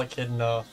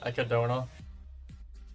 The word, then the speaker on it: Echidna: I know everyone gets really mad whenever I call Echidna from ReZero, since I know it's meant to be like Echidna.